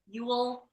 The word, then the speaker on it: EWEL: Ewell, is that how you say it?